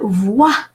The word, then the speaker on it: voix: And voix, OI in French, it's a rule of pronunciation, it's pronounced wa.